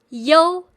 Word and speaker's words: iu: And the pronunciation of IU is yo. Sounds like yo-yo Chinese, right?